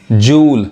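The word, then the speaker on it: joule: क्या होता है घाव जूल अब य जाउल नहीं देखिए जूल अब इसको जाउल नहीं पढ़ेंगे जूल क्या है तो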